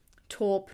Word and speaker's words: taupe: brownie it's like a taupe kind of color top taupe depending on where you are we will pronounce it differently in different countries it seems I'm just